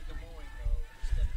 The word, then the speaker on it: Des Moines: Versailles, Illinois is how they pronounced it growing up too, not Versailles. We do say Des Moines, though, instead of Des Moines.